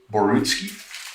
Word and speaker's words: Borutski: Now, am I pronouncing your last name correctly? Is it Borutski? Yeah. Okay.